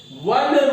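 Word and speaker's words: one: 1 rupee note guys, यहाँ पे ओ है जिसका उच्चारण होता है वो।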